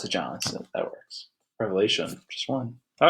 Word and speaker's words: Revelation: anyway revelation thing yeah revelation not revelations the Savior revelation that's one of those become probably the most mispronounced book of the Bible revelation revelations right sure